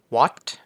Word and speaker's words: what: เลย ก็ อย่าง เช่น What สังเกต ไม ว่า เวลา ที่ เรา ออก เสียง คำ ว่า What เนี่ย ครับ ผม ตัว H มัน จะ ไม่ มี เสียง แล้ว นะ ครับ ผม